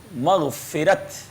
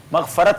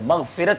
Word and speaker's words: مغفرت: مغفرت یہ صحیح ہے، مغفرت صحیح نہیں ہے. ٹھیک ہے، مغفرت صحیح ہے.